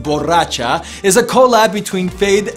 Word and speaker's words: borracha: Boraxa, pronounced borracha, is a collab between Feid and his Avengers flow and Manuel Turizo serving vocals.